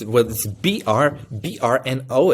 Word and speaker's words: Brno: Brno? How's it pronounced? No, it's Brno. It's actually just a 4-letter city.